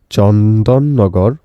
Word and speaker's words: চন্দননগর: সাথে পরিচয় করিয়ে দেয় এটা আসলে উচ্চারণটা হবে চন্দ্রেনগর বা চন্দননগর এরপর পার্থ কুড ফর